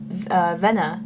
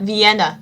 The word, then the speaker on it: Vienna: The count's subordinates were everywhere east of Vena. Vena, I know it's a I know it's I know it's in Rome. I just can't pronounce it. V Vienna. There we go.